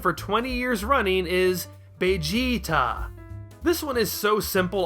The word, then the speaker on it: Bejiita: The Japanese language does not have a V sound, so their approximation of the English word vegetable is Vegetabaru. Toriyama took that, sliced off the end of it, and extended the middle vowel sound into a long E.